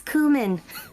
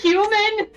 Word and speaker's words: Kumin: name is my name's kumin sorry you should she looks at you and she pulls out a dagger are you sure it's not pronounced human I'm going to say no a spice he just